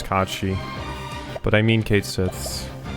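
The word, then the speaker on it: Cait Sith: I've definitely gotten out of the habit of calling it uh Kate Sith like I always did as a kid after finding out that the actual pronunciation is Kachi.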